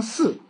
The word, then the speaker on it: 食: 下边精四气，形四味，读成四，反过来说，精又供给着气，饲就饲养嘛，给别